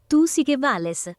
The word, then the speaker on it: Tu Si Que Vales: Tu Si Que Vales. Tu Si Que Vales. No. Hey Siri, how do you pronounce this? It's pronounced Tu Si Que Vales, you ignorant prick.